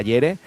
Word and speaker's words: Jere: Los sueños de miere, eh, con jere, pero se pronuncia yere con Colectivo Panamera, una colaboración que salió ayer, que la ha reventado.